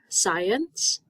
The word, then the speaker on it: science: than a cell phone here's that word science you hear VC making an S sound twice science or someone who